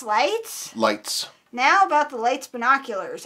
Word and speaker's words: Leica: Then how do you pronounce that? Leets? Lights? Lights.